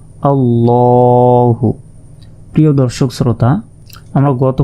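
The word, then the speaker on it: ٱللَّٰهُ: তাই এই শব্দটি মোটাভাবে উচ্চারণ করতে হবে।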